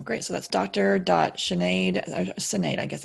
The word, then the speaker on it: Sinéad: dot sinead I just innate I guess it's name it's pronounced sinead but it's spelt innate it's an Irish name it's a Gaelic name my maiden last name